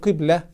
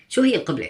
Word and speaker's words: qiblah: He thinks that the direction towards which Muslim turn at prayer is pronounced ''qublah'' (i.e. kiss) instead of ''qiblah''.